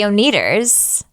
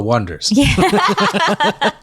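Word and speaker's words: Oneders: and it was a the oners the oners that's the Wonders it's pronounced onet there just so many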